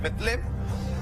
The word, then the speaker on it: Belén: San Mateo, capítulo 2, versículo del 1 al 3 dice: cuando Jesús nació en Belén, cuyo en realidad pronunciación es Betlem, de Judea, en días